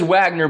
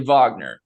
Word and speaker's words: Wagner: it's a little different it says Wagner but it's actually Vagner so I mean that's